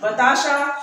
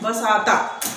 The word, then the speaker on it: बताशा: जैसे कि बताशा शुद्ध है, लेकिन लोग बोलते हैं बसाता, यह क्या है? अशुद्ध है।